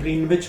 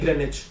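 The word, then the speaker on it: Greenwich: हम उसको बोलते हैं ग्रीनविच मीन टाइम। मतलब नॉर्मली आप ग्रीनविच ही बोलते हैं इंडिया में उसको, लेकिन यहाँ पे उसको बोलते हैं ग्रेनिच। तो W जो होता है वो साइलेंट कर देते हैं।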